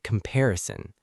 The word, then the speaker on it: comparison: The word comparison. Comparison. The stress is on the second part, pair.